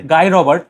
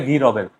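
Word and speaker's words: Guy Robert: গাই রবার্ট, ওকে ইংলিশে pronounce করে গাই রবার্ট, আর ফ্রেঞ্চে বলে গি রবের।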